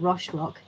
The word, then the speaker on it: Roche Rock: at rock the rochelle how do you say roche rock yeah yeah that sounds sorry i'd faded myself down then uh yes when he arrived at roche rock the height made him think again i'll never